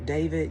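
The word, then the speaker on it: D4vd: I've seen it before because his name is spelled funny. It's D 4 V I D David, you know what I'm saying?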